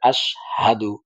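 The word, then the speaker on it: أشهد: কয় আশহাদু আশহা সাদু এখানে হা টা যে আছে এটার উচ্চারণ অনেকে করে না সেজন্য এটাকে ভালো করে আশহাদু আশহাদু হ্যাঁ আবার এখানে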